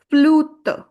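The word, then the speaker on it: flûte: And you will put the sound stress on you, which is u kind of. So, it will become flu-te. Flu-te, it is flute.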